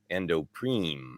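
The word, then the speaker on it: Ando Prime: Nick says, I know it's annoying, but it's pronounced Endopreme. Oh, Endopreme. But it's spelled Prime?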